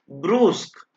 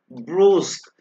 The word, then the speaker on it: brusque: मैंने इसको प्रोनाउंस किया है ब्रूस्क, राइट। ये जस्ट आपकी नॉलेज के लिए मैं लिख रहा हूं यहाँ पर कि इसको वर्ड को कैसे प्रोनाउंस करना है, ब्रूस्क।